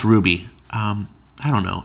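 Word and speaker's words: RWBY: rwb why is this our WB wires are pronounced Ruby I don't know it's written by Maureen Bennett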